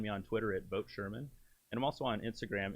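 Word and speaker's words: Scheirman: uh on facebook if you just look for sherman for congress uh it's spelled funny though so bear with me it's s-c-h-e-i-r-m-a-n for congress you can find me on twitter at vote sherman and i'm also on instagram and my fiance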